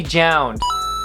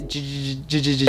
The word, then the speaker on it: JJJJound: So the next one, by no surprise, I gotta put on the list, is going to be JJJJound. I almost want to pronounce it JJJJJ.